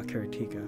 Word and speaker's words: Karateka: the true K karatica I'm getting used to pronouncing it karatica but it's you know ever since I discovered can be also be pronounced uh kartika but I grew up with it knowing it as karatica there's always a next